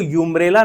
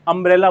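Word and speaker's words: umbrella: तो अंब्रेला को यूंब्रेला नहीं बोला जाता है। अंब्रेला बोला जाता है।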